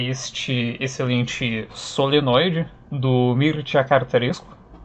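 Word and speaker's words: Mircea Cărtărescu: E bom, sem mais delongas, o primeiro livro do qual eu quero falar aqui é este excelente Solenoide, do Mircea Cartarescu. É assim que se pronuncia o nome dele, procurei no Google antes de começar o vídeo.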